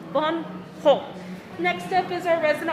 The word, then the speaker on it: Van Gogh: Gallery we don't really put a lot of Van go on anything because Mr Vincent didn't like to